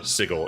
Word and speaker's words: Sigil: Planescape era, there's Sigil, but I always say Sigil, even though Sigil is supposed to be the correct pronunciation of it.